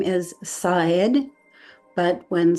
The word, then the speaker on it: Szaed: The proper way to pronounce his name is Szaed, but when said casually, a bit more rapidly, it sounds like the word said, like he said, she said.